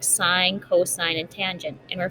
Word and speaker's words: sine: the first one is sine um it looks like sin like down here when you abbreviate it but you actually pronounce it sine and the sine ratio